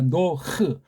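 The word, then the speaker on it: נֹחַ: 노흐. 노흐라는 발음을 서양 아이들이 못하니까 여기 아자를 조금 넣어서 아를 살짝 넣는데 이 아자가 그냥 노아 그러고 헤이트자가 없어져 버렸잖아요. 노아가 아니에요. 노하고 흐 해야 돼요.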